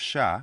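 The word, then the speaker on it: chat: so so here again the last consonant the T of sha which is silent becomes double T's in the feminine and it's no longer silent in okay so in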